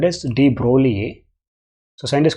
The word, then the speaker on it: de Broglie: by scientists called as d broly a society is called as d broly g is silent here d broly he proved this it